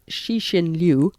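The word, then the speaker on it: Cixin Liu: a Chinese author um I understand his name is pronounced shishin Liu and they are the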